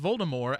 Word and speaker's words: Voldemort: harry potter series baltimore voldemort yeah without t yes she announced one at one point that it's actually pronounced voldemort as in like the french way to say it because more is death yes it's similar the